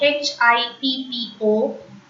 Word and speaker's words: hippo: H in French is pronounced as hush. But when we pronounce H in a word, totally H becomes silent. I have already told you this rule. So H-I-P-P-O is hippo. Hippo. H sound should not come. Hippo. It directly starts with I. Hippo.